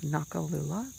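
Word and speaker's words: Noccalula: But you can go to my Instagram at the Witch of Nakalula. Nakalula is spelled N-O-C-C-A-L-U-L-A.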